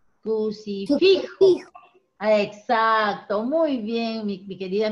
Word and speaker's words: crucifijo: La sílaba tónica está en fi. Crucifijo.